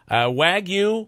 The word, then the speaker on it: Wagyu: And so, and the G is silent, right? Is that the case then? So it's Correct. Wagyu?